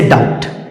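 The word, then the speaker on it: doubt: उदाहरण क्या है जैसे डाउट डी ओ यू बी टी डी ओ यू बी टी इसमें देखिए फ्रेंड्स बी के बाद क्या आया है टी तो इसमें बी का उच्चारण नहीं होगा और सीधा-सीधा हम क्या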